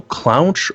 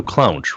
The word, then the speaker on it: Clounch: to ask you this is it clown or it is then you clowns right yeah yeah you said it right the first time perfect so we're put